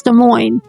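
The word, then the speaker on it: Des Moines: So, the capital of Iowa is De Moine. Don't pronounce it the way it looks. Design. Trust me, it's de mo.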